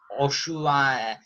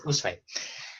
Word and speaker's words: Usui: I see it as the teacher, or I don't know how to pronounce his name clearly, Oshu. Do you know the one who first began Reiki energy healing? Yes, Sway. Usui, yes, Usui.